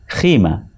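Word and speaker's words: قیمہ: So the word qima is pronounced as khima.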